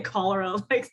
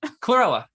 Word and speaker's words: chlorella: No, I was going to say cholera, the infectious disease. I'm saying it wrong. The little green, Chlorella. Yes, there chlorella.